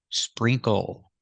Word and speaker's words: sprinkle: Put the SPR together. Sprinkle. The INK sounds like E, spree. Use the long E sound like green beans. Spree. The NK makes two sounds. It makes the sound like ring and sing, plus the K sound.